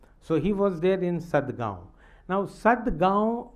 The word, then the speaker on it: Sadgaon: So he was there in Sadgaon. Now Sadgaon, for Arab it was very difficult to pronounce the nasal sound. For example, Gaon, Gurgaon, Sadgaon. So he could not record